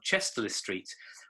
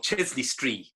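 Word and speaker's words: Chester-le-Street: pelton fell just outside the market town of chester street or chesley street as it is correctly pronounced we lived in a cute little semi-detached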